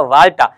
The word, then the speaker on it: Valletta: So exactly इसकी जो इसका प्रोनाउंसिएशन है वो है आपका वाल्टा, बट यहाँ लिखा हुआ है वलेटा।